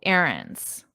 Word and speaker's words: errands: And notice my pronunciation. Errands. Errands. Very different from the spelling.